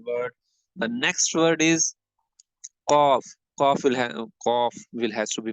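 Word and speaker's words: ق: Then cough will has to be pronounced. Visualize this part with the tongue and start saying with me cough. Right. This has to be read pur cough.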